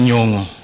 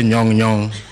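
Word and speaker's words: Nyong'o: Professor Anyang Nyongo. I remember when Connors first started talking about you, used to say Nyong Nyong. I think Connors could not pronounce.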